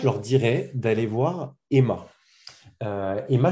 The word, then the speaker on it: E2MA: Emma, je ne sais pas si tu en as déjà entendu parler, donc ça s'écrit E2MA.